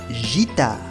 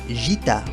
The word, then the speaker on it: guitare: entre la G y la I, se diría une guitare. Une guitare, lo cual es incorrecto. En francés se dice une guitare, así que hay que agregarle una U para que la G se pronuncie G.